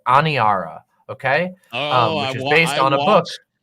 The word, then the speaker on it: Aniara: i a r a anara a n i a just like it sounds anara and uh it is